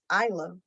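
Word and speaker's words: Ayla: said say it again it's a y l a isla okay conversations about me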